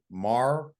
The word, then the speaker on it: Marr: Well, of course, they got that big fella, Austin Marr. That's how you pronounce his last name.